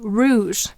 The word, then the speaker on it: rouge: This actually says rouge, and it's a French word that means blush or a slightly red color. And here the ow, o, u, is saying its third sound oo, ow, o, u.